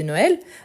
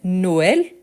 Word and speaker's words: Noël: Donc on doit bien prononcer le i, donc maïs, et en plus je prononce le s. On a vu très récemment, c'était la fête de Noël, donc on avait Noël, et ici vous voyez que le et, il est bien prononcé, Noël.